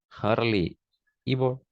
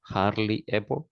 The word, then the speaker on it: hardly ever: uh seldom ten percent Harley Evo uh five percent okay and never zero percent good thank you uh you pronounce this like hardly ever oh hardly ever yes and this one